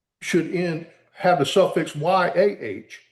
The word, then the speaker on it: Yah: But if you take the Hebrew name and pronunciation, all of those prophets' names end in Yah, Y A H.